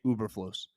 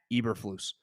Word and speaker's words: Eberflus: And I've said the moment he wins a football game, I will no longer say Uberflus. His name is Matt Eberflus.